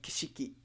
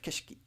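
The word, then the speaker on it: 景色: uh de-voicing uh because i said kishiki instead of keshiki right keshiki see i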